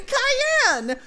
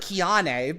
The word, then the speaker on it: Cayenne: I'm Cayenne. It looks like Kiane, but it's actually pronounced like Cayenne the Pepper, or like Cheyenne, Wyoming, but without the H or the Wyoming.